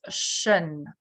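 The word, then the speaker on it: -tion: So we read the suffix as shen, да, в зависимости от буковки, которая перед ним идет.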